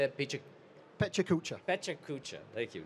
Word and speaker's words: PechaKucha: Pechakucha.